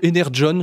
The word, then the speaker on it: Energon: un univers impitoyable de Energon Universe ou Ener John je crois qu'il disent les les Américains ouais c'est nous on le prononcerait Energon mais et pour le coup